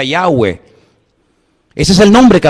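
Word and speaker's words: Yahweh: y he Bad hei verdad ese nombre se pronuncia yahwe Ese es el nombre que aparece en el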